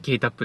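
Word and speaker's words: 霧多布: 多い布って書いてキリタップって読むんですけ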